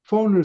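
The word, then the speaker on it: von: 오브를 쓰지 않고 독일에서는 폰을 써요. F-O-N, V-O-N, V-O-N을 폰이라고 읽어요. 폰, 어, 그 다음에 뭐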